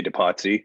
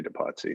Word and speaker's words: Depatie: me well it's de pati de patient and i say departy i'm mostly an english speaker so yeah i say to potsy it's a bit of